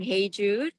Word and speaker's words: Hyejoo: So, yeah, my name is Heiju. I always introduce my name like, you know, the Beatles song Heiju, my first name, so people can at least, you know, pronounce close enough.